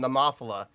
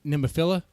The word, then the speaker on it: Nemophila: about how I insulted the guitar player from Nemophila. I don't know if you see that in the chat. Go up to the top. You mean nemophila?